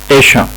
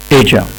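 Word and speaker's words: Asia: ده كده نطق البريتش، ده نطق البريتش بقى الكلمة إيشا.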